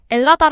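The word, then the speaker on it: Ελλάδα: 아고 부르길 원하고 있습니다 헬라스의가 무음이 되어 엘라스 혹은 엘라다 아고 발음하는 것이지요 헬라스 헬렌의 후손이라는 뜻입니다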